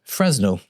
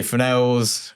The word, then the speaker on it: Fresnel: So they are Fresnel's spelled Fresno which is how I pronounce it for years. They frenels optical snoots.